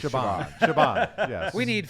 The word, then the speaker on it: Siobhan: It's pronounced Shaban.